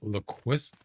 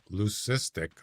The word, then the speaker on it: leucistic: And there's a black hybrid mallard and a brown lequist leucistic I almost said it wrong.